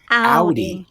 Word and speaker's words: Audi: Audi. Audi is how you say it. Audi.